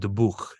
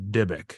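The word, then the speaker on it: dybbuk: boxes well that's not real it's actually called the book not dybic that's that's the wrong pronunciation and they were never attached to items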